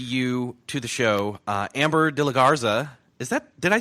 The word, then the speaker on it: de la Garza: to the show Amber de la Garza. Did I say it right? Did I say it too quickly? Or No, I think you said it great. De la Garza.